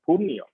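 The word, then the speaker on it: Purnea: Dhbanga Mujafur Patner and Punea it rhymes with Cornnea so Chandigar you have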